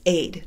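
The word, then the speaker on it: عيب: They have a word for shame in Middle Eastern languages, and it's aid. It's A-D. We would pronounce it A-D-E, aid.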